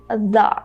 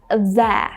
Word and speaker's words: the: And here again, a lot of people make the mistake of saying that, and this is not that. So to illustrate the word better, try to say fun. So this is the exact sound you have to make when you say the. So just let's get rid of this F and let's try to say thun, and then just say the, and that's it.